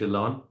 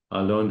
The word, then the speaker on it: Alon: Am I pronouncing your name correct, Alon? Alon?